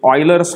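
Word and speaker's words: Euler: शेवटच्या पानावरती ऑयलर्स formula दिलाय किंवा उलर्स फॉर्म्युला. तुम्ही त्याचा उच्चार ऑयलर असा करावा अशी माझी इच्छा आहे, पण प्रोनन्सिएशन तुम्ही गुगलवरती चेक करू शकतात.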